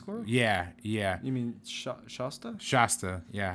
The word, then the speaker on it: Shasta: It's his pot smoking detective, and Shanta is her name. Shanta is the chick who he's been trying to. This girl? Yeah. You mean Shasta? Shasta.